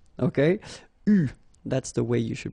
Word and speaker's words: eu: It is pronounced U, okay? U, that's the way you should pronounce it.